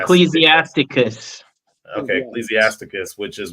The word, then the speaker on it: Ecclesiasticus: I referenced a book of, I don't know how to say this name, it's Ecclesiasticus. Ecclesiasticus.